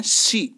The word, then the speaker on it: she: has been eating, देखिए she का भी pronunciation है she, है ना, सी नहीं है, सी बोलेंगे तो एस डबल ई हो जाता है, सी, है ना, she